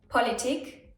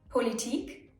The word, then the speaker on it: Politik: Some words even work both ways, meaning that both the long I and the short I are correct ways of pronouncing the word.